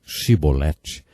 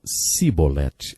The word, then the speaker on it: chibolete: regiões do nosso país eles não conseguiam pronunciar os sons CH e por isso diziam simbolete ao invés de chibolete Jefté degolou 42 mil